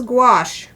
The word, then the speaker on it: gouache: All right, this is gouache.